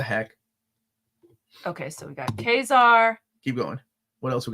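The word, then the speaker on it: Ka-Zar: Okay, so the way I pronounce it is Kazar. Oh. But what you're saying is actually right.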